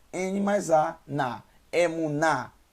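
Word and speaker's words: אמונה: o câmera lembrando que o rei no final da palavra não tem som assim como o ali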